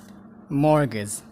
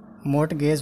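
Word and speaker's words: mortgage: मर्गेज, मोर्टगेज होइन मर्गेज, मर्गेज। क्लाइम, क्लाइम्ब होइन क्लाइम, क्लाइम।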